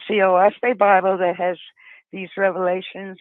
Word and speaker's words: Oahspe: It's spelled Oahspe, and it's actually 3 syllables, which stands for earth, sky, and spirit.